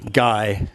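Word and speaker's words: ไก่: Again, we've got the short I vowel, the gorgai from the first tutorial, and we have to swap those around for pronunciation, and we get a low gai.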